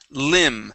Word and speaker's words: limb: okay very good um next word here is limb the B at the end of the word is silent limb okay limb